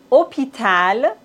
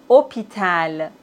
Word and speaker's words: hôpital: Dans la langue française, on ne prononce pas le H comme si ça n'existait pas du tout. Homme, hôpital, hôtel, véhicule.